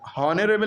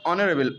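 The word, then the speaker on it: honourable: क्या हो जाएगा एन, क्यों एच साइलेंट है यहाँ पे, हॉनरेबल नहीं पढ़ेंगे, ऑनरेबल ओ की आवाज़, ओ वॉवेल है इसलिए एन लगा।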